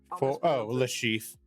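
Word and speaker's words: Le Chiffre: Lashif. Thank you. There's an R in there for no damn ass reason. It's French. They don't pronounce half their fucking letters.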